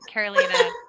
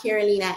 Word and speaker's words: Carolina: you can uh and my name is both like north and south carolina but pronounce the spanish way that's the easiest way to remember on linkedin uh carolina so you can